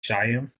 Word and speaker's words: Shyam: They did talk about uh how uh was this Shamir or how do you say his name? Do you know Shyam? S H Y A M.